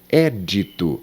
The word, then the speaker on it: édito: Édito é um substantivo e edito seria o verbo editar. O édito, relativo às leis.